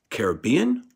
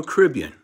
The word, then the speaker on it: Caribbean: Caribbean World Series Oh a Caribbean or Caribbean little pondering you can pronounce it either way but they go to